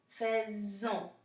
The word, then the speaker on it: faisons: the letter is S, if an S letter is followed by a vowel, we now pronounce it like a Z. Okay, so that's why it's faisons.